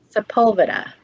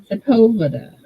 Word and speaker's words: Sepulveda: Oh, that's how you pronounce it. Sepulveda. Sepulveda.